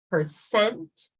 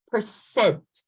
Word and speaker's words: percent: So you're going to pronounce percent. The second syllable is the strong syllable, all right?